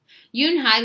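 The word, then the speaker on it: Unhei: Yunhai looked quickly at Mr. Kim, then turned to Joey. She nodded slowly. "Yes, it's pronounced Yunhai."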